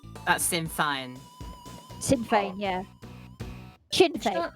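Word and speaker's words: Sinn Féin: Is it Shinfane? Yeah, probably. Yeah, there's some kind of Gaelic pronunciation to it. Yeah, I thought it was Shinfane. Yeah. No, I I've always heard it Shinfane, but you know what?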